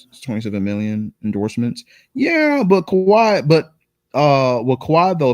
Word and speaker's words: Kawhi: He said Kawhai. Uh, my man said Kawhai what? You You said Kawhi Leonard's name wrong, but his demand kind